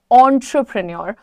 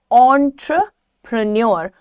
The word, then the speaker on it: entrepreneur: The correct pronunciation is entrepreneur, entrepreneur, entrepreneur. So how will you pronounce it? Entrepreneur, preneur और न्योर दोनों ठीक है। So near, न्योर में confusion नहीं होना चाहिए। The correct pronunciation will be entrepreneur और न्योर। entrepreneur और entrepreneur, न्य पे भी आप रुक सकते हैं।